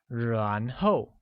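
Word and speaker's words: 然后: Then translates to 然后, which is said with a mid-rising tone on A and a falling tone on O, like 然后.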